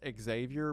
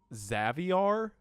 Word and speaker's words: Xavier: Also, according to uh Babuar himself, his first name is not pronounced Xavier, but it's pronounced as Caviar, but instead of a C, it's an X. So, Xaviar, there's absolutely no way.